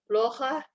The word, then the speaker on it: плохо: Плохо artinya buruk ya, atau tidak baik. Плохо, penekanannya di O yang pertama.